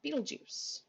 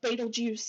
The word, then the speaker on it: Betelgeuse: red star here is the star beetlejuice let me pick on it there we go um or betelgeuse betelge i've heard a couple of different pronunciations another star is actually